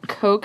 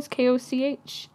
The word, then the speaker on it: Koch: Jordan Koch, I think is how you pronounce his last name. Koch. Yep, Koch. Koch, yeah.